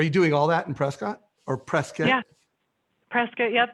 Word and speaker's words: Prescott: i'm in prescott arizona actually pronounced prescott like biscuit we are a small